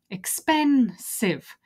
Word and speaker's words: expensive: expensive where's the stress the stress is on pen so expensive and what you need